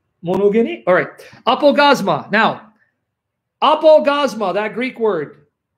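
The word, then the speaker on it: ἀπαύγασμα: I'm going to pronounce it the Erasmian way. Apogasma.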